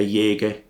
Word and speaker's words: Jaeger: quite as cheap is a Jaeger uh as you would pronounce it in France and it's 18 karat